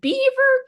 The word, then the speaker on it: Belvoir: And then, like a month before publication, I saw this TikTok video of this British man being like, welcome to Beaver Castle.